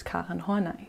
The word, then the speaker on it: Karen Horney: And yes, you can call her Karen, but in German we pronounce her name as Karen Horney.